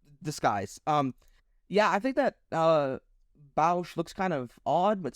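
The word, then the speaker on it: Boushh: Bausch? Oh, I'm so sorry. But yes, Boish. Wait, sorry, what did you say? You said Boish? Boish? Boish. It's Bausch. Boussh. Bow?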